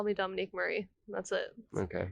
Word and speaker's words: Dominique Marie: exactly I thought I've been practicing how to pronounce that you don't need to just call me Dominique Murray that's it okay it's my stage I don't